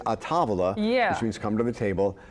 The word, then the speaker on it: A Tavola: several different ways the in italian it's a tavala yeah which means come